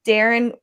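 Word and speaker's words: Daren: say right okay so what's your name goes darren they go why isn't it spelt with two hours uh because it should be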